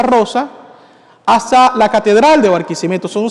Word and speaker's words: Barquisimeto: Venezuela una ciudad que se llama barquim lo pronuncio lento y claro barquisimeto para que lo entiendan bien hace años una